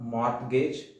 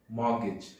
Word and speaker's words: mortgage: It's not mortgage, it's mortgage. Mortgage.